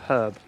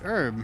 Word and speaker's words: herb: like say the word herb oh the H is silent it's herb no it isn't silent I don't know man